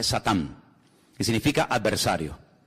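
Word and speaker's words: שטן: la palabra la palabra Satanás que significa adversario es un nombre que viene del hebreo en hebreo no se dice Satanás se dice satán que significa adversario y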